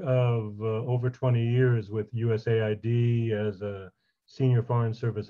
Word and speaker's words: USAID: Sometimes people call it USAID, but more commonly it's USAID, the U.S. Agency for International Development. Yes, I came to have a career of over 20 years with USAID as a senior foreign